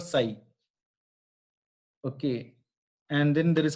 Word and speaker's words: psi: Then just like this symbol, this is called psi. P is silent in this. This is called psi.